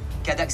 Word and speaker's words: Cadax: kadax oui son nom Léo cadax cadax C a Dax comme ça se prononce voilà bah écoutez en